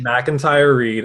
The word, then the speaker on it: McIntyre-Reid: we have Sonia uh Miami again how to pronounce it Mac and Kat outrage MacIntyre read awesome it was funny I your name was